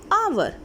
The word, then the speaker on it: hour: So in it, when we read it, it sounds hour. Hour. So which sound is coming? O sound is coming. O. And O is an vowel. Here H is silent.